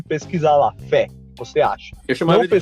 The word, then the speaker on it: Fe: Um jogo que eu gostaria de comentar é o Fé. Exatamente, ele se escreve assim, F-E, Fé.